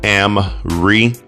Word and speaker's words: AM-RE: So again, this is pronounced Amri, and these True Wireless